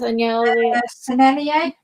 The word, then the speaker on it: Sennelier: Sennelier.